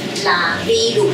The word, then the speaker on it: Laviru: 罗马拼音 L A V I L。对，拉米鲁，这就是原住民的假酸浆叶的发音。